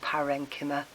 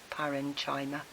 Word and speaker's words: parenchyma: and most plant things you know you've got parenchyma and perfectly some people pronounce it China Air in China paren China that's fine I tend to pronounce the chk